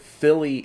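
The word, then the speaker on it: Fíli: pronounce it because we we have the accent marks on the first syllable this time. So, you could pronounce it Philly and Killy, but I think it's Phy and Keely.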